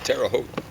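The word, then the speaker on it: Terre Haute: On our last hike and I said, "How do you guys pronounce Terraote?" And they said, "Terraote and it's French, you know, means something like highland."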